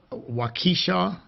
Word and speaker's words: Waukesha: these folks out there and i think it's pronounced waukesha um in wisconsin and they're out there enjoying